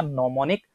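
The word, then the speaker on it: mnemonic: shift करेंगे केंद्रित किया नो मोनिक प्रकाशित जी साइलेंट होता है इसका शब्द प्रणाम सेशन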